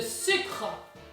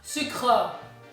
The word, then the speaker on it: sucre: There's sugar, le sucre, not sucre. You don't pronounce the E.